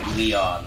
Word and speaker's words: Lion: from sega visions magazine called l-i-o-n but it is pronounced by leon so well there you